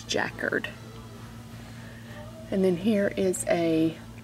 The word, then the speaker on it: jacquard: percent spandex dark purple floral jackard as jen has said is the proper way to pronounce that i just can't do it i'm gonna say jacquard but apparently the proper way to pronounce that is jackard and then here is